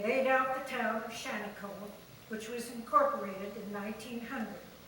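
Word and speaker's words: Shaniko: The name Shantycoke is the Indian pronunciation of Auguste Chanticleau's last name.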